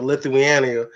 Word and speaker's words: Lithuania: Hey, look, LeVar, I'll be on the next plane out to Lithuania, calling that game for your son. First off, you're gonna pronounce the country right before we go out there and be on the radio.